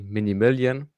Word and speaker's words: Minimilan: You you can say my name is actually Mini Million, but uh no, no problem.